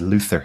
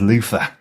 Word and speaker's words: Luther: ever pronounce the name of that show as Luther because I think most people pronounce it as Luther which is something that you get dead skin